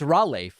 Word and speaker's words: Raleigh: It's Raleigh, isn't it? Raleigh? It's like a raw leg.